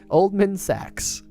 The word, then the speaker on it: Oldman Sachs: Oldman Sachs. Or as I imagine the devs prefer to pronounce it, Old Man Sachs.